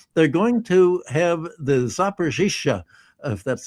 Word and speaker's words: Zaporizhzhia: And one of the crazy things that the Wall Street Journal said is they're going to have the Zaporizhzhia, if that's how you pronounce it, the nuclear Zaporozhye.